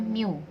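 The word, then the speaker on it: μ: Jadi dalam varians itu kan rumusnya ada di sini rata-rata dikurang mu. Ini bacanya mu ya, mu pangkat 2.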